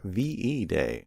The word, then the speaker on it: VE Day: however features talk about ve day what's va day um v day uh v e day to pronounce it correctly a victory in europe